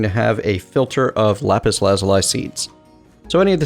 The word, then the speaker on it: lapis lazuli: I think it's lapis lazuli. I think I originally tried to teach myself to pronounce it as leapis lazuli when I was a kid.